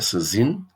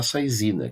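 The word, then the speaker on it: saisine: Princípio de Saizine, Saizine do francês, que seria a pronúncia correta, seria Saizine, né, e foi aportuguesado para Saizina, que é esse princípio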